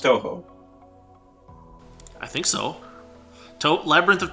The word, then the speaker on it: Touhou: and it's quite good quite good and it's pronounced touhou i think so labyrinth of touhou gensokyo and